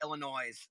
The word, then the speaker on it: Illinois: But I can't stand when people say Illinois with an S, okay? The S is silent on Illinois.